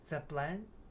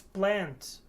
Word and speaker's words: plant: I thought he wouldn't appreciate the plant. I don't know. If I will not pronounce plant, there will be a word like plan. Plan. It is not plant.